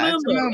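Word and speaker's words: muumuu: It's a Moo Moo.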